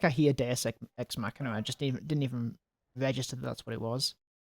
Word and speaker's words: Deus Ex Machina: Deus Ex Machina.